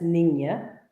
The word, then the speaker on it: Niña: Well, that's Niña, not Nina, not Nina, it's Niña. And that's little girl in Spanish. And it's also Columbus's smallest ship, if that helps you know how to say it.